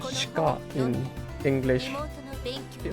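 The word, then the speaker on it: 鹿: It looks like the thing I sent, which is like 落ちてた it is spelled shika in English.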